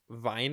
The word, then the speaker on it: Weine: But yeah, this was directed by Robert Weine, I think is how you say his name.